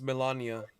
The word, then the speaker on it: Melania: Is it Melina? It's Melania. Like Melania? Melanie, but Melania.